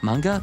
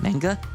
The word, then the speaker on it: manga: Mang mang manga. Manga. Look, look, you can say it like two different ways. Manga. Manga. I'll switch between the two.